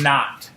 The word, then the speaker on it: naught: see the subscript notation the zero which is pronounced not right which is like zero is nothing not is nothing so H naught is the initial height and then the final